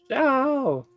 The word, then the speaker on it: Xiao: Xiao. Alright, well, that's how a Chinese person is saying it in a Chinese video game. So I'm assuming that's the correct pronunciation of his name.